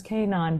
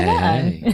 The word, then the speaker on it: Kanaan: So for the longest time, I would say my last name was Kanaan. But now I'm like, you know what? Everyone's taken their name back. I'm going to take the pronunciation of my name back too. So it's Kanaan. Hey.